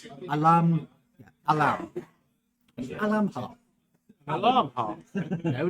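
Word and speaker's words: olomh: you know what spell o l o m h apparently pronounced Alam alarm alarm alarm no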